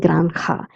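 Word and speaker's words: granja: bungalow la granda farm j is pronounced as that's why I'm saying granda elbario neighborhood double r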